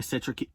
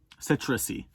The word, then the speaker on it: citrusy: Very citric-y, I think. That's how you pronounce it. Citrusy. There it is.